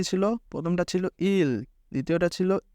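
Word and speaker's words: 일: ইল ইল কীভাবে হলো? যেমন ইয়ংয়ের পরে ই, আর ইয়ংটা যেহেতু উচ্চারিত হয় না সেহেতু ই, আর নিচে রিউল, আর রিউল যেহেতু নিচে আছে সেহেতু আমরা সেটার শেষ অক্ষরকে উচ্চারণ করব।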